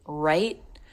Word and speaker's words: write: Write, because the final sound is a T, and the next word begins with a TH. You've probably noticed, but the W in this word is silent.